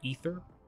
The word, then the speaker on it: aether: know aether you know that's method is pronounced ether i'd probably look at